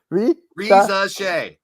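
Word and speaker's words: Risacher: I still can't pronounce it. Reza Shea.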